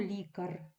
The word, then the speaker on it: лікар: ми перевіряємо Отже слово Лікар відносимо до другої колонки це м'яка група лікар лікарі не прив'язаний наголос і навіть не наголошується суфікс у нас лікар падає на корінь суфікс і ар перед